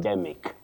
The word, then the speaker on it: syndemic: Do we say syndemic because we had a guest from the National Sneemic Disease Control Council. Is it syndemic or cymic before we get to our listeners? Sneemic.